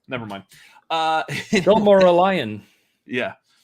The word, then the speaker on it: Silmarillion: I will try to pronounce it. Samarian. Samaria. Nope, it's unpronounceable. Never mind. Silmarillion.